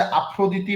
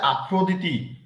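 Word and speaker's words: Aphrodite: daughters একজনের নাম হচ্ছে এথেনা আরেকজনের নাম হচ্ছে আফ্রদি বা ভেনাস লিখেন এথেনা এ টি এইচ ইটি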